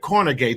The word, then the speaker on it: Cornegay: So Cornegay. Did I pronounce that right? Yes.